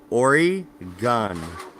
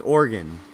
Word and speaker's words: Oregon: yeah it's organ ooh so think Orry gun gun like boo pew pew yeah it was already gone it's organ almost like your heart is an organ its organ that's how locals pronounce it it's organ yeah I'm